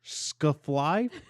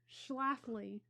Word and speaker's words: Schlafly: How do you pronounce this? Scuffly? Schlafly.